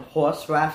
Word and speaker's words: horsraf: really a city it's just me uh called horse rap studio so that's how you pronounce it yeah that's it uh working on